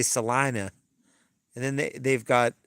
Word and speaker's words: Salina: they pronounce everything wrong they have a town called Selenas but of course they they say or Selena but they say Salina and then they they've